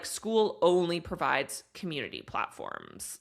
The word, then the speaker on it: Skool: It's pronounced Skool.